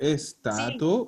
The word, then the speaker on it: sta: Tratar de no pronunciar esa E fantasma, que muchas veces pasa, que me dicen está.